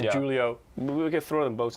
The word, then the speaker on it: Julio: j so it's j j u l i o g leo but again if you're from a mediterranean or spanish or latin country the j is pronounced like an h so it's it's julio